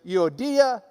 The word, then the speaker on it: Euodia: Well, if you're from Lubbock, it does indeed look like Euodia and Syntyche. But if you've got the Greek reading next to it, you might as well pronounce it the way they do.